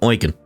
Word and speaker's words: Eugen: Dear Eugen, I can't thank you enough for everything you've done. Oh, that's how you say it. I kept forgetting Eugen.